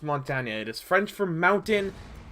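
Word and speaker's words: Montagne: broken down and said it's not Mont or monu it's Montana it is French for Mountain so usually they always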